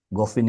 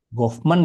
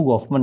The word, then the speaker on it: Goffman: materinya si Irving itu, Goffin itu untuk supaya kamu lebih ini lebih lebih leluasa lah kalau lebih lebih enak gitu bacanya. Goffman ya, kamu Goffman ya.